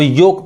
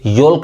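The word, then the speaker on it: yolk: तो ओ के बाद अगर एल आ रहा है और लास्ट में क्या आ रहा है? के आ रहा है, तब एल साइलेंट होता है। इसको अब योक पढ़ेंगे, योल्क नहीं पढ़ेंगे।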